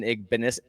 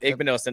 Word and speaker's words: Igbinosun: At corner, it looks like Davison Igbinosun. Yep, Igbinosun. I said it right before I thought about it, and then I thought about it, and that was a mistake.